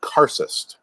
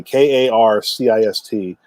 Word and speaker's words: karcist: the sorcerer who controls the demons it's called karcist apparently this is the highest level of adept